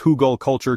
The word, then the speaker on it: Hugelkultur: Huggal culture, pronounced Hugal culture, translates roughly from German as hill culture or mound culture.